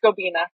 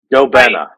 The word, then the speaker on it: Gobena: so we have Luke from gobina right it's pronounced gobina go benna we even looked up like that okay so